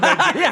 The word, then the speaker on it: Nigerian: They weren't mispronouncing Nigerian because the G is soft.